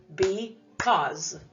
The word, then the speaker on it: because: open syllable doesn't it what about the second syllable cause do you hear that ending sound z in because what is making this sound in because is it the letter z goodness no in this word